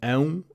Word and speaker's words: ão: It is also the Portuguese version of the sound a dog makes: ão, ão, woof, woof.